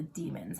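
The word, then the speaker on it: daimon: that are around though demon is spelled d a i m o n which drives me bonkers but in the audiobooks it's pronounced demon so we're talking about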